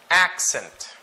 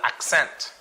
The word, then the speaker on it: accent: Accent. Accent. So it's not accent. Alright? Remember the pronunciation or where the stress falls. It's in the first syllable.